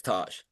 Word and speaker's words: Tass: Okay, I want to make sure I pronounce that correctly, right? That's Yep. Tass, Tosh.